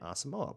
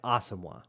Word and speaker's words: Asamoah: first of those is Brian osimo Brian awesomewa I say that wrong and I'm sorry uh I guess we're all saying it wrong for a long time Brian asamoah which there are other awesome ones that have been in the league that say it that way so I don't